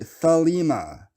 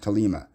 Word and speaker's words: Thelema: In Aquino, and I know everybody pronounces it Thelema. Thelema is not how you pronounce that word. That word is Greek. It's ancient Greek. It's pronounced Thelema.